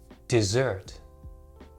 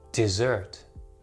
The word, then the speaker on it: dessert: dessert first of all notice that they are actually pronounced differently desert desert dessert dessert now a desert is